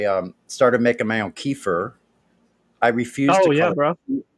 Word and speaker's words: kefir: oh yeah bro i i refuse to call it kefir yeah because you're not a russian and you're not an indian who cares kiefer okay good it's no keeper is an acceptable pronunciation it really is it's a dialectical thing it's it's yeah you're